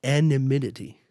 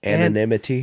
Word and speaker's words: anonymity: No, that's not how you say it. Anonymity. Anonymity. And we're going to get this right. Anonymity? Yes. Thank you. All right. The M is at the end, not at the beginning. Anonymity.